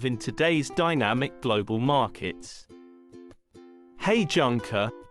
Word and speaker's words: Heijunka: today's Dynamic Global markets hey junker pronounced hey Jun cou is a Japanese word